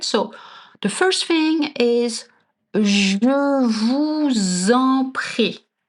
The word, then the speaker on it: je vous en prie: So the first thing is je vous en prie. I know it's hard to pronounce right. We have the je and the sound. Je vous en prie.